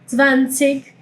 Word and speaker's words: zwanzig: Eh Zwanzig o zwanzig. Zwanzig o zwanzig. Ambos están bien. He escuchado las mismas personas pronunciando de las dos maneras y de lo que